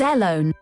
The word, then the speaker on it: Ellone: her full name alone is that how we're saying that e-l-l-o-n-e alone hello fake net how do you say alone initializing fake net ellone it's airlone and lying to children